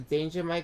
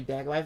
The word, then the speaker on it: Daggermite: Okay, our next animatronic is Daggermite, which I originally pronounced as Danger Mike, but it's actually Daggermite.